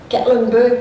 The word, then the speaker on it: Gatlinburg: Gatlinburg, is that say it right, Doug? Gatlinburg, Tennessee?